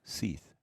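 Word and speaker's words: Sith: It's spelled S-I-Th, but it's pronounced Seth.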